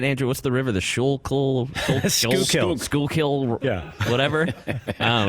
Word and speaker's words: Schuylkill: The Schuylkill? Schuylkill? Yeah. Whatever. I don't know. It was some crazy rivers flooded over like nuts. It's crazy. The Schuylkill was flooding over in Manioc?